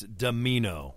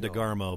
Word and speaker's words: Domino: It's Domino. I was saying DeGarmo, but Yep, Domino.